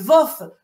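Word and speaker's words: Львов: tenue en 1943 àvof alors en fait dit le VOF lorsqu'on considère que que c'est une ville qui faisait partie de l'Ukraine soviétique et les les nationalistes ukrainiens eux il prononce vif vous voyez un i au lieu d'un o et donc en 1943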